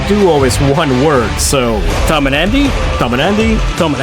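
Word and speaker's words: tomandandy: I'm sure it's pronounced Tom and Andy, but the name of the duo is one word. So Tom and Andy, Tom and Andy, Tom and Andy.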